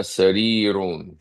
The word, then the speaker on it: سرير: Now notice the ra, the last ra, when you pronounce the ra that has a kasra, it's not heavy. And this is studied in tajweed. When you pronounce the ra that has a kasra, it's not heavy. But when you pronounce the ra at the end, like our brother Hilton recited, it's heavy.